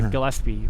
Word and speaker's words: Gillespie: I never know if it's a hard G or a soft G. I think it's a Gillespie with hard G.